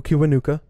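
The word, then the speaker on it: Kiwanuka: i would say listen the hero by michael kibanuka which kiwanika you spell it k-i-w-a-n-u-k-a um again just a great subtle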